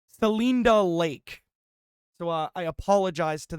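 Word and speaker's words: Celinda Lake: younger voters Cinda S I probably I probably butchered that so I apologize to those residents but uh a democratic pollster wait hold on well I can confirm that I was off by a bajillion pronunciations it's uh selinda lake so uh I apologize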